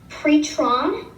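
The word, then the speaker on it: πτερόν: Pretron is actually how you say wing.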